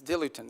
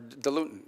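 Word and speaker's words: diluent: As in fact, one of the things they need is dilutin, or dilutin, depending how you want to pronounce it.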